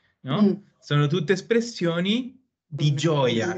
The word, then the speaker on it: gioia: E ricordate la pronuncia. Gioia. I-I-O. La I non si pronuncia, allora sarebbe una specie di gio. Per quello gio-ia. E gioia. Non c'è la I, non è gioia, è gioia.